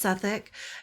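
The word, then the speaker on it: Southwark: here Seth work South work work but it's pronounced seic It's associated uh this area is associated with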